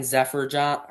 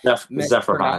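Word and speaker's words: Zeferjahn: The Cubs go out and get Ryan Zefferjohn Jefferhan. Sorry if I Zefferhan Zefferhan. Zefferhan. Tough one to pronounce, but this might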